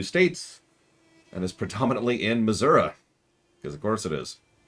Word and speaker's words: Missouri: the hook okay so missourians tend to pronounce it Missour it is spelled Missouri there's an i at the end Nevada Nevada same thing